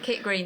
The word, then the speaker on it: Kit Green: I nearly called it what I usually call it on the mic on a Saturday night. Kit Green Tavern. Rhymes with Kit.